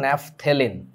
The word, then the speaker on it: ন্যাপথেলিন: আর উচ্চারণটা কিন্তু ন্যাপথেলিন। আমাদের 9-10 বইতে যেভাবে ন্যাপথেলিন লেখছে অ্যাকচুয়ালি ওই রকম না আর কি, পিএইচ বানানের মধ্যে।